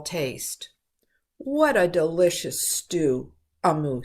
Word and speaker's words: Amu: a note to the reader that amu is pronounced amu and it is an igbo term for the